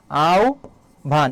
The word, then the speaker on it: আহ্বান: স্থলে কি হবে ভলে আহ্বান এর উচ্চারণটা কি হবে বলতো আও ভান এটা হবে কিন্তু এখানে দেখো ভুল